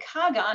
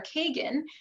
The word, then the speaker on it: Kagan: version of kohen and Kagan or Kagan our Supreme Court Justice is a russianized version of that because again they didn't have the H sound in Russian so they pronounced that as a g and of course names